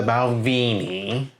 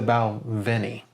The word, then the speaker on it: Balvenie: I have heard other people say it wrong, and if you didn't know, it's not the Balvenie. It's not the Veni or the Vin. It's the Balvenie.